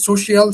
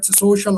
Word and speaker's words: social: which is the word the pronunciation of the word social you pronounce it social. So again take care social and not social.